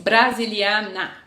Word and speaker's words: Brasilianer: Du bist brasiliana, com ER no final, tá bom? ER no final, brasiliana, masculino, ist brasiliana, Augusto ist brasiliana. ER no final é pronunciado A.